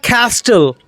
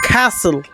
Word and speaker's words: castle: It's not castle, it's castle, castle.